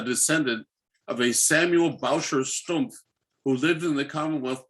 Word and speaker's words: Stumpf: The same was true of my great-grandmother, Elizabeth Warner, who married Jacob Stump, and Stump is spelled S-T-U-M-P-F, so Stumpf.